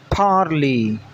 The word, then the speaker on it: parley: Today we learn a new English word, parley. Parley. It consists of two syllables. First syllable par. Here there is a stress over the P. Second syllable is lee, while Y is silent here.